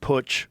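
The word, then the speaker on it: Putsch: Push. You said it right. Cuz it's a German word cuz they they had pushes in Germany.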